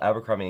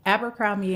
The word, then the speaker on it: Abercrombie: But the whole Abercrombie and Kent story seems like, something out of an old book.